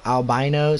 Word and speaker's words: albino: Bubba Nina did it it's pronounced albino supposed to rhyme with rhino I feel that this